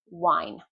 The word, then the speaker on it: wine: So wine. If I say vine, that's a different word.